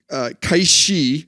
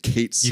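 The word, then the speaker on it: Cait Sith: this thing is named Kate Sith. You called him Kate Sith because you'd seen Star Wars, and that's how you were taught to pronounce English.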